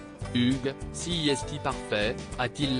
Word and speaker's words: Hugues: dernier lui a finalement recommandé de le prononcer à la française Hugues si et si parfait